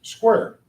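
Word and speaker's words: Squier: honor of Major General George Owen Square as he pronounced it appreciate it is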